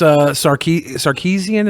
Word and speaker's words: Sarkeesian: You were creeping on Miss Sarkeesian. Is that how you pronounce it?